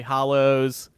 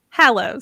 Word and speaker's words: Hallows: I still get wrong Hallows Hallows enrolling by dollars yeah a lows haleh's somebody said say shallow how that's how you're supposed to remember it like rolling like bowling